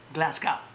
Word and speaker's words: Glasgow: There's a fight this Saturday in Glasgow, not Glasgow, Glasgow.